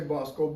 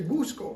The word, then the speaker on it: Buskohl: your last name well you can pronounce my name it's b k l now Bob and some they would say bosal but if you get in other parts Dyke or or uh uh Grande they say Busco because that's the way it is over in Germany and in German that